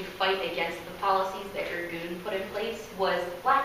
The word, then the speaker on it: Irgun: This group split off into another group called Irgun, which is spelled I-R-G-U-N.